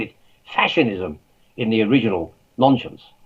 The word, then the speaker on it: Nonscience: fashionism in the original nonsense that's how i pronounce it by the way not non-science i would say nonsense because it sounds a bit like nonsense but the original launch